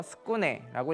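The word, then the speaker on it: 宿禰: 그리고 숭예라고 한자를 써서 스쿠네라고 읽습니다.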